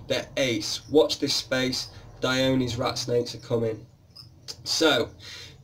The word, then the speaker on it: Dione: That's why we call them Dione's. So people would call it Dione, but to be honest, if it's Aphrodite, then really it's going to be Dione, working on the pronunciations of the Greek gods.